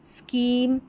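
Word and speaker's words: scheme: और यहाँ पर देखिए SCH है, तो इसको स्क पढ़ेंगे, जैसे स्कूल, स्कीम, स्कॉलरशिप और स्कॉलर, ये सेम पैटर्न और सेम उच्चारण है।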